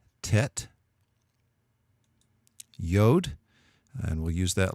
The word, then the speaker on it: Tet: of your throat yet then there's Tet which would pronounce like the T and ton Tet yodh and we'll use